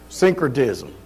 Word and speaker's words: syncretism: Syncretism.